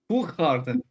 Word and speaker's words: Hoegaarden: Hoegaarden. Hoegaarden. Yeah, I Please would've say said that wrong. again. Hoegaarden. Say it. Hoegaarden. Yeah, there you go. Whoop Garden? I never had guessed that. You can pronounce that.